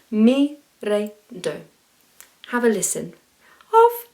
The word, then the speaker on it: re: Can you roll your R's on re? Mi, re, do.